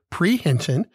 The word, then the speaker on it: prehension: of the day we do the word is prehension three syllables a noun p-r-e-h-e-n-s-i-o-n pre-hinton and it means the act of seizing or